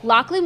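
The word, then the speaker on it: Loughlin: calls at gac family let me explain first lachlan will reprise the role of abigail stanton pronounced her name so weird even though i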